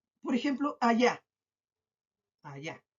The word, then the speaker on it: allá: Ahora voy a, por ejemplo, allá. Allá. Dice allá. Tiene 2 sílabas. Allá. Tiene 2 sílabas. ¿Dónde se carga la voz? A última, penúltima. Ah, la voz se carga en la última sílaba y según la regla